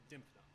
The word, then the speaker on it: Dymphna: random reference on Wikipedia it took me a while to learn how to pronounce it consistently "Dymphna" At least that's what I'm going with A: Yes *pronounces it